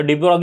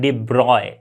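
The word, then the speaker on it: de Broglie: ब्रॉग ली इसको कहीं इसका जो एक्चुअल प्रोनंसिएशन है वो क्या है डिब्रॉय इसे हम इस तरह से प्रोनाउंस करते हैं डिब्रॉय ओके तो बट नॉर्मली हम इंडिया में डि ब्रॉग ही बोल देते ओके डिब्रॉय बोलोगे तो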